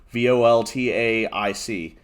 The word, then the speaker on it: voltaic: one is called voltaic it's spelled weird v-o-l-t-a-i-c so like almost yeah it's it's spelled voltic but with an A so voltaic uh voltaic stun sweeper